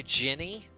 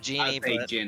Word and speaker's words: genie: she actually nailed it i would say ginny instead of jeannie yeah you nailed it